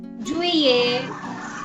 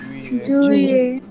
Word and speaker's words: juillet: Juillet. Juillet. Here you see double L is silent, right? So be careful. Juillet.